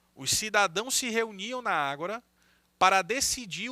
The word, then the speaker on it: ágora: vida pública chamado de ágora. É agora com acento. Ágora, assim que se escreve, tá bom?